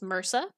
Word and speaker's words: MRSA: One common MDR microbe is methicillin-resistant Staphylococcus aureus, also known as MRSA, pronounced MRSA.